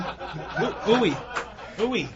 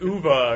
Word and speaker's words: Uwe: How are you supposed to pronounce his name? Uwe, right? It's actually... It's Uva or something.